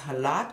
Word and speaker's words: challah: Of course, you know, in English now it's being transcribed as CH, but it is actually pronounced halat.